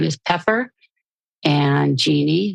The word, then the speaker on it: Jeanne: name is pepper and Genie which is I spell it kind of strangely J A NE so have talks with